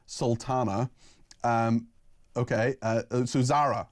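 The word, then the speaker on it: Zaira: Uh so Zara Zara, this is Z A I R A, but it's Zara apparently.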